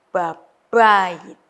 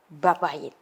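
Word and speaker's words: בבית: Ya, B-nya ini weak, yang kedua itu strong, jadi babayit. Ya, babayit.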